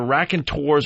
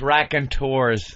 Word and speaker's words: Raconteurs: So the first mistake is they have the name of their band is either Raconteurs or Raconteurs.